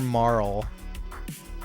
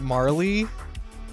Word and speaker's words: Marle: pronounced her name wrong I've always called her Marl like rhymes with Carl but is her name is it Marley Marley okay that's that's what I thought I'm going to I'm